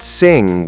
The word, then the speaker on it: sing: So it's not sin, it's just sing with a nasal sound at the end. Exactly. The ng creates one sound that comes from the back of your throat and through your nose.